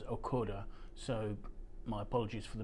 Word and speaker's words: Ochota: wine from a winery that I've mispronounced in the past evidently this is okota barrels um I've heard it pronounced but um saw a video recently um where taras um okora the late winemaker from the who set up the winery was pronouncing this as akoda so my apologies for